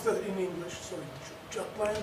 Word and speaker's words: Jutland: Sorry, Jutland? Well, I'd say Jutland. Know exactly what the Scandinavian Jutland or something like that, Jutland or something like that. But we all say Jutland.